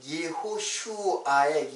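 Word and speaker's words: יְהוֹשֻׁעַ: 그러니까 우리말로도 여호수아인데 사실 예호슈아예요. 예호슈아. 이렇게 쓰면 되겠네요. 여호수아인데 이거는 이제 히브리 말로 하면 예호슈아 이렇게 발음이 돼요.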